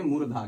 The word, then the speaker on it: मूर्धा: मूर्धा, अब इसको मुर्दा नहीं बोलेंगे, मूर्धा।